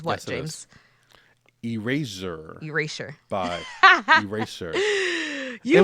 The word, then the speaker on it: Erasure: It sounds like eraser, but I wasn't trying to say eraser. I was trying to pronounce the sure part.